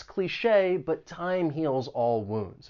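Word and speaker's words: cliché: pronunciation don't really match cliche it has two syllables the stress is on that second syllable and the c-h-e with the accent mark sounds like Shea cliche the next word is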